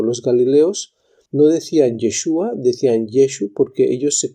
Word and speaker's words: Yeshu: no aparece en Mateo aparece en el primer versículo como yeshu luego aparece como yeshua incluso más adelante aparece como yehoshua es decir Mateo utiliza las Tres formas en que se puede pronunciar el nombre de Jesús en hebreo en un tiempo que evidentemente la lengua hebrea no estaba todavía codificada cuando dice yeshu eso da un tono Galileo los galileos no decían